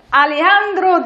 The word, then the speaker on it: Alejandro: Allora, io comincio con Alejandro Damian Gonzalez Hernández. Ma come si pronuncia veramente tutta sta roba qua? Perché la J non si pronuncia bene in italiano, quindi Spiegami si è bene.